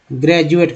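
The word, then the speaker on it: graduate: एक उच्चारण देखिए अंग्रेजी वर्ड मीनिंग में, ग्रेजुएट का जी, जी आर ए, ठीक है, डी यू ए टी ई। ग्रेजुएट में डी का उच्चारण ज होता है ना।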